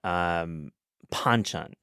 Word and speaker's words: banchan: Speaking of simplicity or not, Banchan, Banchan, pronounced Banchan typically, I would say.